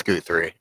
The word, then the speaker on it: Guthrie: I mean, Guthrie went from not having anything to being a 500 hitter, so Guthrie. Fucking love that dude. It's Guthrie. Learn to say his name.